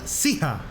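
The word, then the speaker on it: Siha: Se pronuncia Sija.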